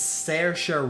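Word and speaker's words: Saoirse: how do you say this actress's name it's sarcer ronan sertia now i know a lot of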